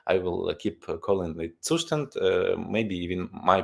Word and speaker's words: Zustand: And since it's a German word, it's not Zustand at all. You can call it whatever you like. I will keep calling it Zustand.